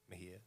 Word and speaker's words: Mejia: A lot of people get my last name wrong because it's actually spelled with a J. So like you should have heard through school. Teachers, Mejia, like it's just all over the place. I'm like, Mejia. Right.